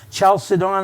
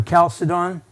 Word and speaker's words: Chalcedon: uh 451 the council i've heard it pronounced recently chalcedon i've always called it calcium or calcidon where the the creed